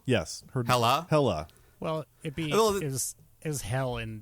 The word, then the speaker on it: Hela: Are you pronouncing her name wrong on purpose? Hel? Yes. Hela? Hela.